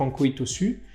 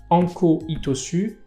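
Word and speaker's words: Ankō Itosu: est toujours écrit que Anko Hitosu, c'est la prononciation en okinawanais, c'est en japonais Yasutsune Hitosu.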